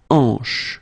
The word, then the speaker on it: hanche: Remember, H here is not pronounced, so you get the sound en, hanche at the beginning.